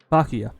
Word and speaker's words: Byakuya: Ah, It's Byakuya. Bakuya. That's how you say his name.